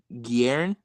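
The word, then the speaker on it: Guerin: Uh I don't know how to say his l last name, but Richie Garen say that's right.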